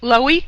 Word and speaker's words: Loewy: Loewy, we pronounce it?